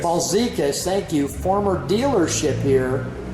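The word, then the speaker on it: Balzekas: Balsecas. Balsecas, thank you.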